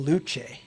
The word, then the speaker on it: Luce: Look at People were saying in our chat, they're saying Luce is how you say it.